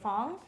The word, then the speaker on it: Phuong: if you see the word people usually say Fong so I would say you would spell it like typhoon like typhoon typhoon yeah okay